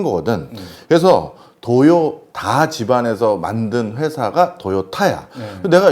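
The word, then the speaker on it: Toyoda: 스펠링이. 맞아. 네. 그런데 이 도요타 자동차 회사를 만든 집안 이름이 도요다야.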